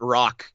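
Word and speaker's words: Roak: I'm pronouncing it right it's r o a k so I could be butchering that name completely let's call it rock yeah it might Beck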